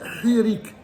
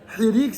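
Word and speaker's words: hiriq: de vous dire que le i ça s'appelle hirik hirik c'est apostrophe h i r i Q h i r i Q c'est hirik donc on a Patar ensuite on a Seol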